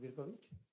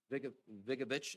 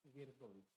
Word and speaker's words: Virkovich: Hello, I'm Virkovich. Okay. I'm the property owner. Mr. Vigovich, it's pronounced? Virkovich. Virkovich? Perfect. Okay, thank you, Mr.